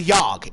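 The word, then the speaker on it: Yahg: Yeah, the Yogg. It's spelled Y-A-H-G.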